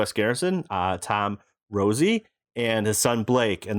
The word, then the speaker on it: Rosy: There's no E. Yeah, it's pronounced Rosy, and it used to be deriven from my original last name, which was Rosati.